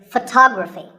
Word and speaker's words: photography: our next word is photography we say photograph but photography so the first syllable becomes and the stress goes to the second syllable photography so photography in the same